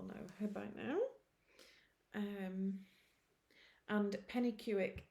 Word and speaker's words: Penicuik: And Pennycuick, it's a place in Scotland. It's a Scottish place name. It's spelt Pennicuik. I think I've got that right.